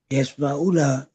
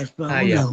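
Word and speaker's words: يَسْمَعُونَهُ: Karena itu pala apa bacanya sampai sini? Yasma'una. Ya, Yasma'unahu. pala yasma'unahu. Ada hu-nya ya.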